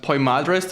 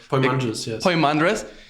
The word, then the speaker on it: Poimandres: i would say yeah i think it's pronounced poi madrest or poem andres yeah can you tell